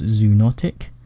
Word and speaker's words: zoonotic: These types of diseases are called zoonotic. Zoonotic, that's how you pronounce it.